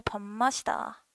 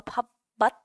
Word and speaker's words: 밥맛: 그리고 야, 너 진짜 밥맛이다. 에서 밥맛 하지 않고 밥맛 이렇게 하잖아.